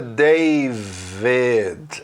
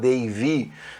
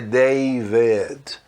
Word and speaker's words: David: de Angela, David, aliás, a pronúncia é David, apesar de ter si aí, né, para ter falado Davy, não é Davy, é David.